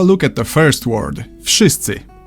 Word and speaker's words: Wszyscy: Wszyscy. I've heard people say it has no vowels, but it does. This letter here is a clear vowel in Polish and makes the sound like in the word system.